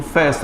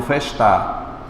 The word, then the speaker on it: festa: Eu digo festa e não festar.